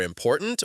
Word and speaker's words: important: For important, you'd highlight poor.